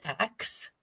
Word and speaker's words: Aks: Jen, is it pronounced axe? Axe. Yep. Wow, like an axe.